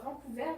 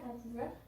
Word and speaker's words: Vancouver: avant couvert cette fois Vancouver Vancouver c'est un mix de la prononciation française voilà au Canada et du coup il